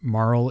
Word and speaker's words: Marle: How do you guys say her name? Marl? Marley? No, it's Marl. I say Marl.